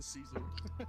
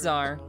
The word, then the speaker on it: Czar: And she's the Caesar. It's okay. Obviously, eloping would have won, Is that so how you it's can just give me pronounced? the I thought it was point. Czar. Oh. It's Czar.